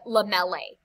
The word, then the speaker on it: lamellae: should be lo uh lamellae is how you say that word lamela so ae is going to have uh the the a long a ending excuse me for that